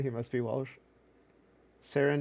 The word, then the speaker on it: Seren: Sarin not serene.